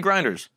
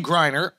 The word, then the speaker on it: Griner: about yes what do you think about Brittany Grinders yo shot Britney say her name right correct